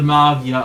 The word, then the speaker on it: Magia: Not necessarily in difficulty, but more in like what style they are, like the Magia level. Yes, I say Magia because that's how you actually say her name, Magia. Not Magia or the call it group toilet.